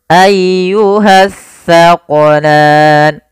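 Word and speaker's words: الثقلان: Dan hati-hati dalam melafalkan huruf sa. Jangan sampai kita membacanya dengan huruf sin. Nah, sering terjadi kesalahan, banyak di antara kita membaca huruf sa dan sin dibaca sama padahal dia berbeda.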